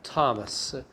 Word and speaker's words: Thomas: next one is thomas remember it is a t-h but the pronunciation is not the way that you say it like iraq is okay it is thomas okay so if it is something like this it is okay but if you actually have something like this it is right wrong okay so the pronunciation of thomas is th like ta okay not not not like not like that okay if you have